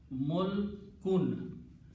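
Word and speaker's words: ملكٌ: But the word that we will be using here is Mulkun, and it's pronounced as with two dhammas at the end, Mulkun. The meaning of when we stop, we say Mulk.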